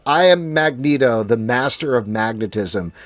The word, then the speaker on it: Magneto: Like how helpful would it be if like I am Magneto, the master of magnetism. The way that you pronounce that is magnito, right?